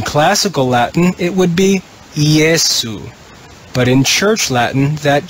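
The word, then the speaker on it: Iesu: letter we call j in church latin we would read this jesu jesu in classical latin it would be yesu but in church latin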